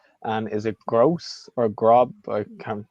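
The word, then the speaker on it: Groß: And is it Gross or Grob? I can't. How do you pronounce it? Yeah. Gross.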